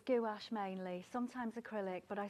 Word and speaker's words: gouache: you work mostly in goulash, don't you? Which I thought was hilarious. I think it's pronounced gouache, isn't it?